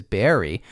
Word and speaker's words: Barre: even though Wilkes-Barre is technically the the correct pronunciation is Barry which is why I thought not that I